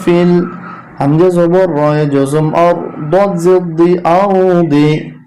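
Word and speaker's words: أرض: হামজা জবর রয়ে জজম আর, দদ জেদি আরদি। এখানে যখন থামবো উচ্চারণটা হবে আরদ।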